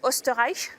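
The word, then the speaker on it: Österreich: parlé oui voilà on on prononce osterich c'est ça voilà dont on a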